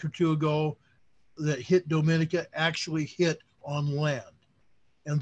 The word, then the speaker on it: Dominica: I've watched their news from Antigua and Barbuda and Dominica itself, so it's Dominica.